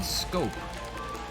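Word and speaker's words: Schoop: o and one Jonathan scope looks like sh but it's pronounced scope and grows it in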